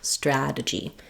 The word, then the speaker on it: strategy: That stra-gy. It's stressed, it gets the clear vowel. Then, because we have first syllable stress and my T falls between two vowels, and it's followed by an unstressed syllable, this T is going to be flapped and it's going to sound more like a D.